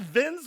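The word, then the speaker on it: Vinz: It's called Vins with a Z, Vins Clortho. Oh, that's Vince right. I forgot about that name. Yeah. You pronounce it like Vince.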